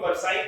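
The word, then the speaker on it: Versailles: called of also but actually pronounced the Treaty of versai came in 1918 that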